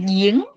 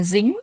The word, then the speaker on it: 营: 营业员营业员，营业员 chúng ta đọc lại giếng, chúng ta không đọc là dính, chúng ta đọc là giếng.